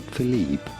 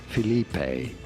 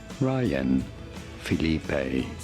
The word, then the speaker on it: Phillippe: How do you go about pronouncing it? Ryan, that you already knew. And no, it is not Phillippe, neither is it Phillippe, but rather Phillippe. Ryan, Phillippe.